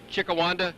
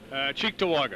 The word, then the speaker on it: Cheektowaga: Chickawanda? Cheektowaga.